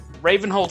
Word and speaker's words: Ravenholdt: I don't know if the T is silent. I make the T non-silent. Ravenholdt, alright people, come on.